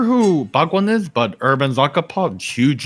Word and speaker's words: Zakapa: How do I pronounce that, Warren? Zakapa.